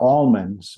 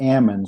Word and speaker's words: almonds: the joke was they're they're almonds with a hard L when they're on the tree and they're am when they're off the tree because when you knock